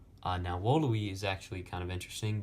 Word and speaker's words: volui: Now, wooluhwee is actually kind of interesting because in classical Latin, the V's are pronounced as W's.